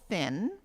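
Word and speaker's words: pHin: It's called Fin, but it's spelled PH-IN.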